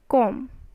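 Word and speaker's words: comb: t is not coming next is com com so b is your silent right b is what b is your silent and only the pronunciation is coming off calm com but spelling is is with including b right now next what it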